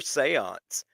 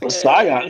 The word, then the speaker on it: Saiyan: Captain Bipto says, "What the fuck is Super Seance?" Yeah, I'm asking this. Saiyan. Super Saiyan. Saiyan. What is that? It's the correct pronunciation.